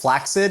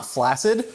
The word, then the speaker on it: flaccid: fry, not flaccid whatsoever, do you know the word's actually pronounced "flaxid" and not "flassid"?